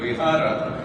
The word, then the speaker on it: Vihara: You know, the Sanskrit word is Vihara. Yes. Bhojpuri little mispronunciation is Vihara, which is Bihar in Hindi, because in Hindi they eat up the last syllable.